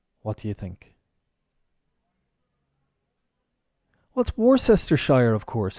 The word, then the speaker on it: Worcestershire: Worcester Shire of course isn't it worse Esther Shire no absolutely not the pronunciation is Worcester well we've got the Shire and maybe maybe I'm mistaken maybe they do it like this on the bottle I'm not sure if it's well this is pronounced Worcester and then if we add the Shire on becomes Worcestershire sure like sure yeah okay no problem